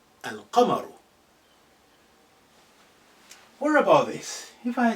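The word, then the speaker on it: الْقَمَرُ: Here I say al-qamaru. I pronounce al, the, in its totality, al-qamar.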